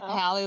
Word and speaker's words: Hallie: Hallie looks at Poof, and it's Hallie, not Haley, by the way.